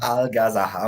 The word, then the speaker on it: Algazarra: How do you Alga, pronounce it? Al, Algazarra. Algazaha. Okay. Yeah, that's perfect.